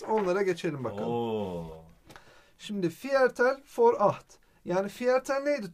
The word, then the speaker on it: Viertel: Okunuşu for. Biliyorsun Almanca'da İşte V'leri nah F geçti.